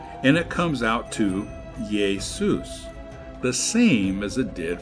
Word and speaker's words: Jesus: So the Latin Jesus became Jesus, but notice that the J is pronounced with an I.